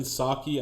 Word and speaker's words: Psaki: Now we have to negotiate with Taliban according to Jen Psaki. And I don't even know why the P is silent.